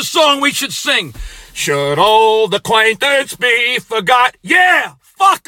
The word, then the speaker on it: Auld: Lang was a nice guy, and it's not even spelled old, O-L-D. It's spelled old, A-U-L-D, old.